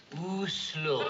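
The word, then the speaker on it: Oslo: how to pronounce it is it oh slow or a slow o slow thank you you're welcome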